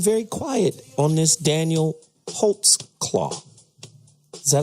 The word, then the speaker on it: Holtzclaw: But then very quiet on this Daniel Holtzclaw. Is that how we say his name? Holtzclaw.